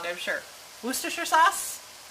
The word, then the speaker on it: Worcestershire: Worcestershire Worcestershire Worcestershire sauce I used to say it was Worchester shire which is wrong it's whose Worcestershire I've been practicing all day and I'm still getting it wrong I'm sure Worcestershire sauce right there we're